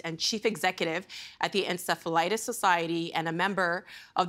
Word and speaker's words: encephalitis: we say it, because I know over there you say encephalitis, right? We do say encephalitis, but I have got a big sign in front of me with it's spelt with an S underlined so that I remember I've got to say encephalitis for you guys.